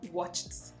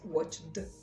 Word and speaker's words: watched: voiceless sound watch watch of course it will be pronounced as the voiceless sound so you have watched watched and not watched of course it would